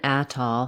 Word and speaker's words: atoll: Letter A in atoll has vowel a, like in black cat, or at. Atoll. Oh. Letter O in atoll is vowel aw, like in law or tall. The stress is on the first syllable in this word, atoll.